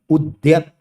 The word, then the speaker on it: उद्यत: ठीक है ना, उद्धत और उद्यत, उच्चारण में ध्यान देना, एक में द में ध मिला हुआ है और एक द में य मिला हुआ है, उद्यत।